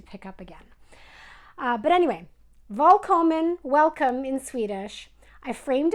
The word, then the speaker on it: Välkommen: And whenever I say something in Swedish, I tend to forget, and I'll use a W instead of a V.